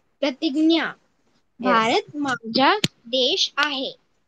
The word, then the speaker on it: प्रतिज्ञा: Yes, you have to work out more on the pronunciation, okay? Okay. Yes. Angel, please. Yes, miss. Pratigya. Pratignya. Pratignya.